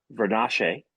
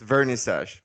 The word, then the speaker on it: Vernissage: So it's a French pronunciation. It's vernissage, but you got a nice try.